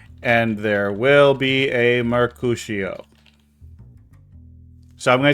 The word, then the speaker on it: Mercutio: It's not Murder Cuccio. It's M-E-R. M-E-R. C-U. C-U. T. I-O. That's how he spelled it. Yeah, but you said Mercutio. I said Mercutio. It's Mercutio. I said Mercutio.